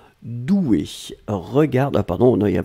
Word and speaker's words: douée: être au féminin ici donc on le prononce comme le masculin c'est à dire le masculin c'est des eaux usées un accent aigu là on rajoute juste le 1 mais la prononciation reste la même doué regard d'un pardon